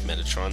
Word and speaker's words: Metatron: Crusader will teach you Metatron or Metatron whatever I I think Metatron is is the right way of pronouncing it you'll get that and